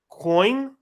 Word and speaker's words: Vo: Is it Kwong? It's Coin. Coin? Yes. Coin.